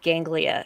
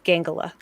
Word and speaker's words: ganglia: But, uh at the very end, uh when McCoy's basically very relieved, he mispronounces the word ganglia, and he says gangala.